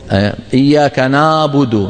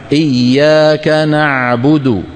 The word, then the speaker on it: نعبد: عو ععا عو عي اما اذا قلنا اع اذ هذا مو عين هذا صوت هيك صوت هلامي مو معروف راسه من رجليه عرفنا كيف هذا اغلب النساء بيقولوا هيك اغلب السيدات بينطقوا هكذا اياك نعبد نا نا هذا مو عين ها العين شو نع اياك نعبد نع لابد منك تخلي لسان